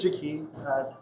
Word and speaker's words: Jaki: So my name is Jaki. I get all sorts of pronunciations. My parents were creative namers. And I always say that it's pronounced like a door key.